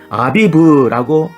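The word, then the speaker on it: אביב: 연결됩니다 보리수스가 쳐서 익혀진 그 보리를 히브리어로 뭐라고 발음하는가 아비브라고 합니다 놀라운 사실은 그 아비브가 고민한 뜻이며 어린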